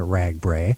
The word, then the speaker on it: RAGBRAI: right and of course there aren't any english words that end in a i i don't think uh there are spanish uh and they they're pronounced i is in high lie so this is the so we're using the foreign pronunciation of ragbrai you're using yeah you're